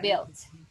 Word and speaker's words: built: We don't pronounce the U. We say built.